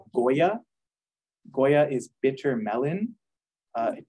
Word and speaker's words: goya: it it's called Goya Goya is bitter melon uh it doesn't really look like a melon it looks like a gourd but it's glitter melon Goya g-o-y-a like the brand like the brand yeah